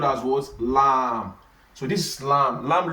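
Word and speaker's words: لام: It's called lamb. And this lam now is just L. It's something that is easy to pronounce, and it has English equivalent, which is what? Which is L.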